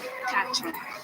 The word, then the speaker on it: quatre: Quatre.